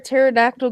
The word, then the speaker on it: pterodactyl: you can't hear a pterodactyl go to the bathroom don't know the P is silent mmm good that's a